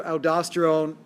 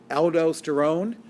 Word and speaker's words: aldosterone: make even more aldosterone now you'll hear aldosterone aldosterone and you'll hear it pronounced aldosterone i say aldosterone now aldosterone is the